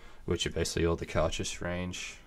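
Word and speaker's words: Cairdeas: are basically all the Karchus range, like most Gaelic words or Scottish words. Cautious is pronounced nothing like it is spelt. Yeah. Spelt C-A-I-R-D-E-A-S.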